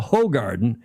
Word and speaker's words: Hoegaarden: Is that how you pronounce that? And then Garden. Is it Garden? I can't remember. It's Stella Artois, Hoegaarden, and Leffe, I believe, are the names of those 3 beers.